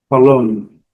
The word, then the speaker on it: cologne: Cologne, cologne, cologne, cologne. Letra E, como eu digo, e letra G também. Cologne.